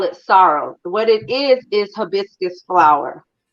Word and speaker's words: sorrel: So if you see how it's spelled, we call it sorrow.